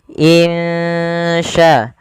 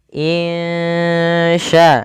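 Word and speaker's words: إن شاء: dengan bacaan ikhfa Hakiki cara membacanya samarkan suara nunnya kepada huruf Sya insya insya insya allahah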